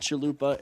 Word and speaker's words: chalupa: a thing on it called chalupa it's it rhymes with chanupa so yeah that's how